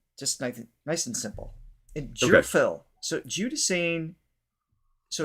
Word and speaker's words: Gerphil: nice and simple and Jil so juding so it's not a hard G it's a like a j sound why is this so